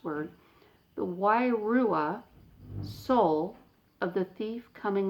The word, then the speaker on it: wairua: diviner could discern the, here's another hard to pronounce word, the wairua, soul of the thief coming alongside.